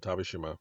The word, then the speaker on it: Tavershima: And Tavishima, my name, is spelled Tavershima.